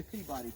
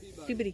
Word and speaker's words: Peabody: How do you say Peabody, Perry? Peabody. You say Peabody, right? It's like Wraith and Wright and all that kind of If you're stuff. from Massachusetts, you say it Peabody.